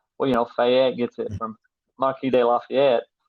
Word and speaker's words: Marquis: He's like, it's not Marcus. It's not Marcus. It's Marquis.